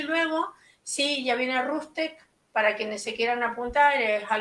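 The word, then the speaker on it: RootsTech: Entonces prueben las herramientas y luego, sí, ya viene Rustec, para quienes se quieran apuntar, es algo que organiza Family Search, se escribe R-O-O-T-S-T-S-H, Rustec.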